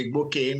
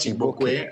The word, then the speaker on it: Iwuagwu: Uh first of all, I want to say my name is Dr. Iwuagwu, not Igbokwe. I don't have W in my name.